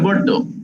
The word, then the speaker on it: Bordeaux: উচ্চারণটা হবে Bordeaux.